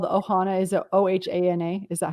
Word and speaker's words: Ohana: your own and your family's is called the ohana is it o-h-a-n-a is that how you pronounce it okay yeah the ohana adventure all